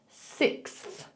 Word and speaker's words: sixth: Sixth, sixth. So all we do is we say six. You can say that, six, well done. And then you've got to put that TH on the end.